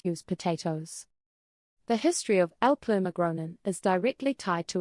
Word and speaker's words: Älplermagronen: This dish is called Älplermagronen, pronounced roughly as Älplermagronen.